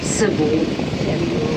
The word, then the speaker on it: Sebu: Sa word po na Lake Cebu, yung tribal word po dyan ay yung Cebu, yung SEBU po, yung tamang pagbigkas po nun ay Cebu.